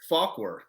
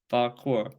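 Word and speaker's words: Fauquier: Falkwer.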